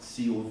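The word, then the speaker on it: Cobh: it's written C or E hate what is pronounced COV d is the game award and we have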